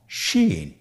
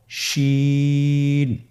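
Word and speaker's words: شين: বাকি 2টি হরফ নাম হলো সিন এবং শিন। সিন এবং শিন। সিন হরফটি উচ্চারণ ক্ষেত্রে অবশ্যই 3 আলিফ টেনে পড়তে হবে।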